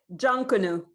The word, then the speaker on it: Jonkanoo: I don't want to mispronounce it. Jonkanoo.